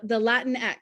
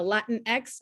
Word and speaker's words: Latinx: The X in Spanish is generally pronounced like an SH, so it doesn't work. The Latin X doesn't really work in Spanish.